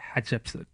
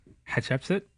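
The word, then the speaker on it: Hatshepsut: Hatsheput? Yes. Yes. Hat. Shep, as in shepherd. Okay. Sut, as in like dirt. As in shit. No? No. Sut. Sut? Yes. Okay.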